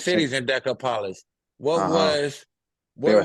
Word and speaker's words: Decapolis: Decapolis.